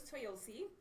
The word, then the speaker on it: Toyosi: ladies and gentlemen so my name is toyosi I talk really fast so I'm just gonna try and slow it down but so you'll see rhymes with Toyota not Japanese obviously um